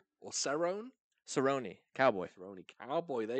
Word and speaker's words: Cerrone: Donald Carone or Cerrone. Cerrone. Cowboy. Cerrone Cowboy. There you Not go. only did I correct pronunciation, hello.